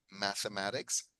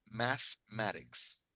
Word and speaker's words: mathematics: Ok, ahora, mucha gente pronuncia la E, dicen mathematics, mathematics, pero de hecho el truquito es que no se pronuncia la E. Mathematics, mathematics.